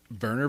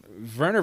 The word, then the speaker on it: Werner: his his entire name his burner which burner is spelled wer n h er Werner it's yeah but they they like yeah I get they rough up that w bad attempt at being